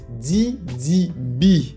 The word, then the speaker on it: Didi B: de en un spécial did B D B yes toi-même tu sais j'aime bien le prononcer en anglais le B de Didi B OK et je dis